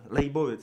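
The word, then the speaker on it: Leibovitz: Že ten fotograf právě mě přijde a taky prostě ta Eni Leibovic, nebo teda Leibovic, Leibovic správně teda right pronunciation, právě říká, že se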